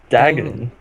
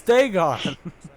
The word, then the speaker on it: Dagon: The powerful Daedric Prince Maroon Dagon Dang loves it, Eli. killing. Dang it, you pronounced it correctly the last time. Maroon's Dagon.